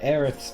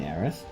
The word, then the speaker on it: Aerith: hair and foxy's hair unfortunately we can't name aerith because of the guardskip um oh that's one thing i didn't point out um you will notice that aerith's name is aerith with a th um because